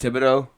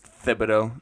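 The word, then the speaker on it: Thibodeau: Tom Tibido Tom Tibido I think it's pronounced Tibido TI everybody just pronounces it wrong I think we're we're from Louisiana we know how that shit's pronounced it's Tibido Tibido everybody says tiido no it's Tibido um it's a classic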